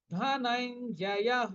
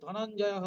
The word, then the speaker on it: ধনঞ্জয়ঃ: এখানে দেখুন কি আছে, ধন, তারপরে হাফ ইয় আর পূর্ণ জ, তাহলে ধনাইন জয়, ধনাইন জয় হ, বিসর্গের পরিবর্তে হ, ধনাইন জয় হ, আমরা কিন্তু ধনঞ্জয় হ বলবো না, ধনাইন জয় হ।